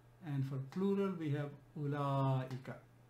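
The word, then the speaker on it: أولاء: for plural we have ulla it's important to pronounce this because war is silent here it's written by silence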